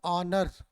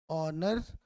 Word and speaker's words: honour: तो यहाँ पे भी वही बात, ऑनर ऑनर, और इसका उच्चारण फिर वही वॉवेल की तरह हो रहा है. That's why we should use here not ए.